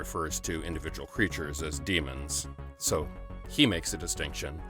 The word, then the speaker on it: Dæmon: however they want but the ash tree ligature AAE combined is generally pronounced as an e it always has been and the ancient word demon was spelled d ash tree mo n demon just like archaeologist is